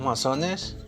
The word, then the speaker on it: mason: son quiénes son los masones cuál es su fin de esta organización de entrada amigos quiero explicarles la palabra más aún la palabra masones de origen inglesa y se pronuncia mason y su significado quiere